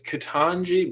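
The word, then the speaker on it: Ketanji: um yeah wow katanji is that how you say her name i keep thinking ketamine but it's kitanji brown jackson officially nominated the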